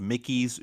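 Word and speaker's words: Michie: Like, for instance, there's a book called Mickey's Jurisprudence, and Talk about Disney. it's spelled with a ch. So Oh, interesting. Mickey.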